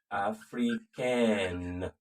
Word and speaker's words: africain: And then, of course, you have elle est africaine. Africaine. That's the masculine and feminine differences, okay? Il est sénégalais. He's a Senegalese man or Senegalese. Elle est sénégalaise. Il est africain. The N is silent, it's nasal.